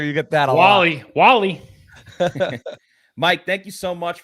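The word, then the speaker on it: Wahle: It's not Wale. I'm sure you get that a lot. Wally.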